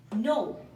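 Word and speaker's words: knee: নাইফ মানে হচ্ছে চাকু নি কে এন ডাবল ই নি মানে হচ্ছে হাঁটু এখানেও কে সাইলেন্ট আকারে রয়েছে নেক্সট হচ্ছে নক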